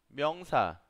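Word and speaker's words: 명사: Myeongsa. Myeongsa. Myeongsa. Myeongsa. Significa sustantivo. Así es como se escribe y así es como suena o así es como se pronuncia.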